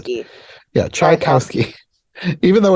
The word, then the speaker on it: Tchaikovsky: he was You can think of it this way, like chai as in chai tea, cow as in Tri-T, the animal, Cow, chai cow ski, like the sport. Trikowski, Yeah, Trikowski, Tchaikovsky, even though it's spelled Trikowski.